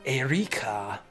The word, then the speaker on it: Erika: Like, it's spelled Erika. Maybe I should present... Like, give a little bit of, like a little bit of flavor on the pronunciation. Erika. Like, roll the R.